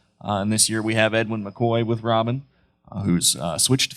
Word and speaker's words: Edwin McCoy: Edwin McCoy.